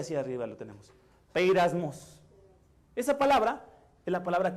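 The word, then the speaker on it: πειρασμός: está pero en griego la palabra griega se pronuncia hacia arriba lo tenemos beiras mos esa palabra en la palabra que quiere decir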